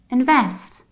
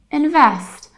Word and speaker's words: invest: how about this one it's not invest you don't have e but you have a and you don't stress the first syllable you stress the last syllable so you need to say invest invest and in the American accent it's exactly the same it's simply invest in the noun form